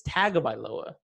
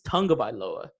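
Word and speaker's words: Tagovailoa: saying it wrong it's tagged by lower I mean I've been saying tagged by lower it's Tunga by lower Tunga by law I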